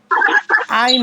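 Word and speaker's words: عين: এক আলিফ তো জুয়া আইন হবে চার আলিফ গাইন হবে তিন আলিফ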